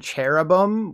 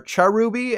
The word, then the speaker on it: Cherubi: child or something so you'd think they're pronounced cherubi and cherum right that would obviously make the most sense given the spelling and etymology but you're forgetting the evil we're dealing with the official pronunciations are charubi and charim so instead of sitting on a chair when saying these names you have to pretend you're British and act like you're chuffed fun fact even though I've